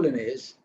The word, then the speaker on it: Linnaeus: He's, of course, if you go to Sweden and say Linnaeus, they may not understand. It's typical English pronunciation.